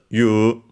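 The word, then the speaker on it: 言う: we have the verb the verb you also uh written and andor pronounced even when written as eu also pronounced as you should be an accent.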